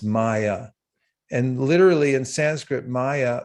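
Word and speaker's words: माया: something it's in sanskrit it's spelled m-a-y-a and the two a's are long so it's pronounced maya and literally in sanskrit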